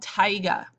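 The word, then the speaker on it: taiga: where it's still cold we get something called tigga now this is not the rapper it's spelled differently all right but tigga is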